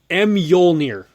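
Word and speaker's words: Mjölnir: weapons as well as the pronunciation for the hammer. It's called Mjolnir. So I never would have expected that at all. So that is kind of cool. It's Norse.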